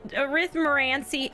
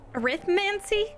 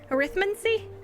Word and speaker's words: Arithmancy: magical creatures or arrhythmia arithmerancy how do you say that word arithmancy arithmancy i got it okay with mancy don't care magical creatures